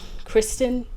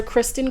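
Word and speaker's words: Criston: is AKA crisen wait Kristen Tristan wait what is his name I think it's sir Kristen but it's spelled like c r i s t o n yeah sir Christen Cole is still around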